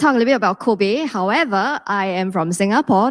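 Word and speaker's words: 口碑: Okay, and the word, if some of you may be able to recognize, the word is pronounced as Kobe, which stands for word of mouth.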